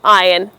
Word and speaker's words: iron: Up next on our list today, we have iron. You need to iron out your clothes, not or in it. The R in the word is silent.